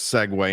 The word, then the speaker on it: segue: call a Segway my friends we're going to segue into the Saints but out before we segue